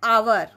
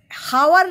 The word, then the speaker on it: hour: यहाँ पर भी देखो एन आवर. हावर नहीं बोलते हैं, आवर.